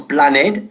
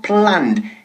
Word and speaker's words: planned: No decimos planned, sino planned, en una sola sílaba, ¿vale?